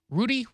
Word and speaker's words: Rutte: Rudy? How do you say his name? I've heard Rutte. Rutte? Yeah. Rutte, of course, he's European.